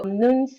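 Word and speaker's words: Noones: I'm currently with no one's nuns and it is spelled n o o n s so nuns is the first Bitcoin messenger app and a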